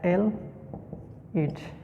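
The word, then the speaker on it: ylide: a compound which is known as fast forest elite this term is pronounced as l it okay it react and give us formation of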